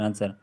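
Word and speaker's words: answer: आंसर होता है आंसर आंसर डब्लू इसमें साइलेंट होता है आंसर आंसर आंसर है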